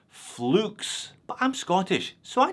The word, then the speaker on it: Fleux: how to pronounce it Edward the brand owner pronounces it as flukes but I'm Scottish so